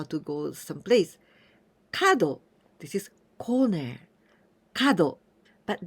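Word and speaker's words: 角: this is corner but this kanji we can also pronounce when we pronounce tuna it means animal horns or antler also we can pronounce Kaku Kaku it means angle for example triangle we say and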